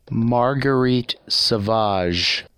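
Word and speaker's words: Marguerite Sauvage: on maybe I will insert a video now Marguerite Savage and that's that's the pronunciation of that name Wow well that video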